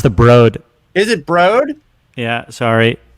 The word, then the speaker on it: The Broad: It's pronounced the Broad.